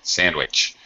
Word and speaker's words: sandwich: you yes oh jeez a sangwich very good sandwich okay sandwich is another word that seems to get mispronounced a lot for some reason